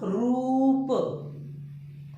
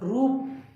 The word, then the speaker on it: रूप: और इसका मतलब होगा रूप, है ना, थोड़ा लंबा होगा, रूप, है ना, रूप।